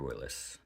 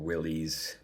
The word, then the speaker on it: Willys: make zero sense so the Willis Edition or Willies for everyone out there that wants to mispronounce the guy's name um they come with